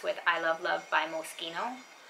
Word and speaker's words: Moschino: i love love by moschino i think they pronounced that mosquito i think i was corrected anyways that's that and